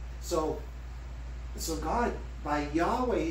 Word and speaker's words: Yahweh: that you've given me so the people who said we can't pronounce it by name we don't know the vowels so so we don't want to take a chance on lightning striking us they said let's replace yahweh or the pronunciation yahweh with adonai which is hebrew for lord so whenever the jews would read scriptures where it says yahweh they left those four consonants in there but they would pronounce it adonai because they knew they